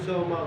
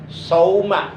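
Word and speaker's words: صوما: Sau ya pakai sod. Sauma. Jangan sauma. Sauma. Karena beda arti.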